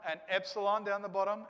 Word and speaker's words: epsilon: a d and then we've got epsilon down here at the bottom here uh and that's the e now in english we